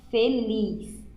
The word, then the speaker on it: feliz: Feliz. Feliz também se escreve com a letra Z, mas a sua pronúncia sai com S.